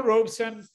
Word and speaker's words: Robeson: And he said, well, it's made up of two words, really. The first half, robe, is pronounced exactly the way that you pronounce the garment that one often wears after waking up in the morning or when one is lounging around, a robe. And son, he said, signifies the male child of a family.